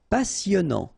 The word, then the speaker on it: passionnant: Passionnant. Final T not pronounced.